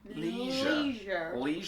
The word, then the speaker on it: leisure: Yeah, leisure centre. But Americans say leisure. Which to me sounds like a cut. Yeah, like a lesion. Yeah. Leisure. And that doesn't sound fun.